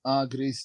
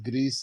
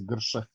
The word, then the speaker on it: Grše: Grše, it's not Greece, it's Grše.